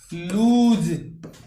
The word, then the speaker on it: lose: कि सर इसका प्रोनाउंस होता है लूज।